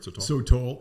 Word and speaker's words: sotol: So you opened Desert Door, and how did you select the Sotol? Am I saying it right? Sotol, yeah, like a toll road.